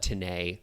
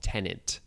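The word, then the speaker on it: Tenet: but i call it tanay i know it's called tenant but what i don't know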